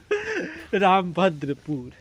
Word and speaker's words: रामभद्रपुरी: रामभद्रपुर। अच्छा, रामभद्रपुर नहीं तो शुद्ध उच्चारण रामभद्रपुरी न होइ छै यो।